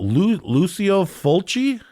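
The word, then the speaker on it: Lucio Fulci: Lucio Fuli. That's right. Okay. Lucio Fulchi.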